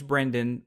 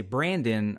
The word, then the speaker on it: Brendan: sometimes I'll say what's my name's Brendan but a lot of people uh mispronounce it say Brandon or they say Brian and I'm like that's not my name my name is is Brendan and they'll be like